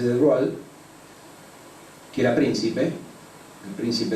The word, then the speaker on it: de Broglie: francés Louis de Broglie, se escribe de Broglie, pero se dice de Broglie, que era príncipe, el